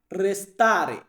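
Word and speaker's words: restare: থাকা এটাকে বলা হয় রেস্তারে ইতালিয়ান শব্দার্থ রেস্তারে মানে হচ্ছে থাকা প্রত্যেকটা লাস্টে একটু লক্ষ্য করে দেখতে পারবেন এ আছে মানে ইতালিয়ান উচ্চারণ করি আমরা এ বা ইংরেজিতে আমরা এটাকে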